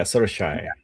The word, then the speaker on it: Saoirse: But even Saoirse, like Saoirse Ronan, for example, it's Mm-hmm. Saio. I can't even remember. Rise. Yeah, Sorshai. Sorshai. Exactly.